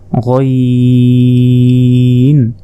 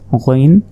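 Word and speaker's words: غين: এরপর দেখুন আইনের মতোই কিন্তু উপরে 1 নোক্তা, এটা হচ্ছে গইন। হলকের শেষ ভাগ হতে গইন উচ্চারণ হয়, গইন, গইন।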